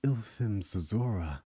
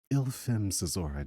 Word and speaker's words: Ylfm'Sozora: My name is Ylfm'Sozora. Um, yeah, that might take a couple tries. I mean, it should be relatively simple to pronounce. It's spelled a lot more difficult than it is to pronounce. Ylfm'Sozora.